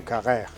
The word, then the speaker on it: Carrère: reino y el autor es Emmanuel Carré o Kagé, que José María Marco me va a ayudar a pronunciarlo perfectamente. ¿Qué tal, José María? Hola, ¿qué tal? Nuria, buenas. Muy bien, lo has pronunciado muy bien. Kager.